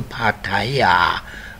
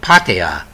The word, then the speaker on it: Pattaya: you from Bangkok to Pattaya oh sorry is patia well I'll talk about that later people you say it wrong and let's go down